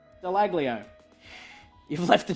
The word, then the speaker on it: Dallaglio: The G is silent. It's Dallaglio.